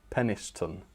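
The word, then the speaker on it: Penistone: Um but yes as Lapis Wake says it is not pronounced well it might not be pronounced how how I say it. He says it's pronounced peniston.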